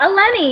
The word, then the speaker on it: Eleni: I'm saying it right? Eleni? You're saying it right, Eleni.